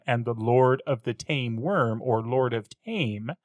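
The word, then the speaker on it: Thames: It's the whole point for why the river has an H in the spelling but is pronounced tame.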